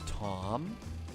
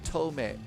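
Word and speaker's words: Thome: The reason why it's pronounced as Tome. Tome Jim Thaw. Played for the Cleveland Guardians. Now they're the Indians. Really? So it's pronounced Tome. Jim Tome? Thank you, Dad Game Time. Hey, that's good to know. Now we're not going to say the wrong way.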